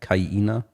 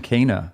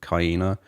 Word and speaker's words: Kaina: because of Sen Morimoto, Kaina, I think is her name. Yeah, I was saying Kana. I didn't know how to say that. Yeah, I think she actually pronounces it on her Twitter profile. It's hard to spell. Kaina? Pronounce. Like hyena? Yeah, Kaina, I think.